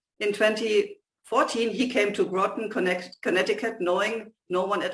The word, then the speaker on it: Groton: In 2014, he came to Groton, Connecticut, knowing no one at all.